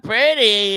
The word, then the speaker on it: Purdy: Brock Purdy and all that, you know. Oh God. Rhyme with turdy.